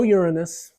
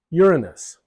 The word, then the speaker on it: Uranus: U, and you have Uranus. Now, the emphasis is on the first syllable, Uranus, but some people prefer the emphasis on the second syllable, Uranus. Anyway, it should be Uranus.